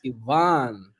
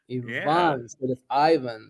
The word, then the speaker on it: Ivan: Ivan Ivan so the so it's e instead of I and the stress goes on the a so it's Ivan Ivan you know yeah yeah